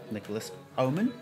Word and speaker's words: Nicolas Haumann: to everybody who's watching um welcome to Nico Nicholas ohman is that good pronunciation that's good enough yeah good enough okay